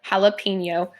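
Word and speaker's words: jalapeño: word and then think about how someone might mispronounce it so what I so this is suppose to be said like jalapeno and it's like that's a little my page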